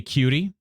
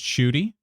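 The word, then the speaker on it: Ncuti: I'm just going to say Cutie. The N is silent. Cutie is so good. Is that how you say it? It's pronounced Shooty?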